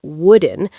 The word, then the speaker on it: wooden: And be careful with the pronunciation of wooden. The sound of the double O is short, like in the word book.